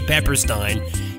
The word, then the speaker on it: Peppersteen: we mispronounced his name apparently his name is izzy pepperstein not pepper stein the letter states their